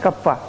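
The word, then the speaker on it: kappa: ठीक है, कटप्पा नहीं, कप्पा, लैम्डा, म्यू।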